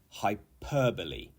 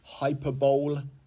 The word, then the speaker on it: hyperbole: so number one is hyperbole hyper so you can see we have the incorrect pronunciation which would be hyperb don't say this the correct pronunciation is hyperbole the phonetic spelling is